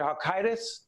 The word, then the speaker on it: Halkitis: So Perry, I mean, Dr. Halkidis, right? That's how you say his name.